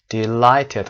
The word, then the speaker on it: delighted: delighted قسمت light و صدای ایدی انتها هم it خونده میشه.